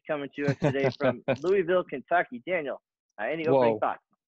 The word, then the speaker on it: Louisville: Well, if we're gonna run this podcast, I've got to fix that right now. You got to say it right. Yes, I'm not going to listen to that for however many dozens of episodes. Louisville, Kentucky.